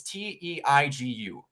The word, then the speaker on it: Teigu: It is what I assume it's pronounced Taigu. It's Teigu. That's probably right.